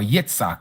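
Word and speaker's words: Yitzhak: mighty one of, or Yitsak, as we would say, and the mighty one of Yakoob, you may know him as Jacob, has sent me to you.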